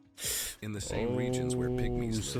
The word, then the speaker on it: pygmies: They have specific rituals to ask permission before hunting Pygmies. It's So, it's it's spelled p y g m i e s. So, it's pygmies.